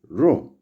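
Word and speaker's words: rho: And the next is sigma, The next is ro, which sounds like R in road.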